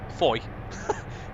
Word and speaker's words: Fowey: I think it's pronounced Fowey. It's the China Clay terminal. We've got Trevor in Tunnel. Yeah, Trevor in Tunnel coming up shortly as well. Foy.